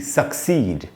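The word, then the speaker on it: succeed: इसकी स्पेलिंग क्या है, SUCCED, सक्सीड। इसको कैसे पढ़ेंगे, सी में जो ई है, बड़ी ई है, उसके नीचे अंडरलाइन, उसको क्या मतलब, उसके नीचे स्ट्रेस का निशान लगाया मैंने कि वहाँ पर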